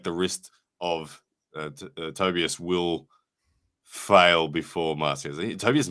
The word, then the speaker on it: Tobias: It's Tobias. According to Pradeep, who did a pronunciation episode.